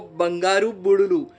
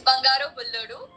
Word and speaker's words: Bangaru Bullodu: you are getting for Bangaru Budulu. They just tell me right if the pronunciation was right or wrong. It's Bangaro Bulluru, which means the gold man.